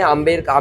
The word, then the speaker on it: आमेर: और फिर अभी लोकल लोगों ने आमेर कर दिया, बी और साइलेंट कर दिया, इसलिए आमेर ओल्ड न्यू